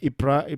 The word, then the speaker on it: Ypres: in Ypres Ypres is this is how you pronounce this word Ypres prize a place in Belgium on your screen this